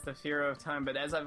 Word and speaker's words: Fearo: And then I was like, Fearo rhymes with hero.